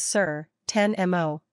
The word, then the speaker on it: certainement: Say certainement. In English, this means definitely or surely. You should pronounce this French term as certainement. N is silent.